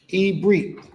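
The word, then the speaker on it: עברית: Ibrit is how you say Hebrew in Hebrew.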